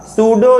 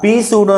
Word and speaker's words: pseudo: हो, उसका नाम होगा सूडो यूनिमोलिकुलर रिएक्शन, आभासी एकाणुक अपक्रिया। इसको आप सूडो पढ़ेंगे, यहाँ पे पी साइलेंट होगा, पी सूडो ना पढ़िएगा, सूडो केवल पढ़िएगा, नाम हिंदी में आभासी।